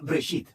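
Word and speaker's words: בראשית: Se pronuncia Breshit.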